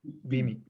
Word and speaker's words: Beamy: everything so is it is it bemi or bimi how is it properly pronounced yeah be me okay but one of